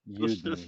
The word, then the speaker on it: Juden: Every time somebody says Juden, take a shot. God. Wow. So that's all I got. You know it's Juden, right? But the German word is Juden.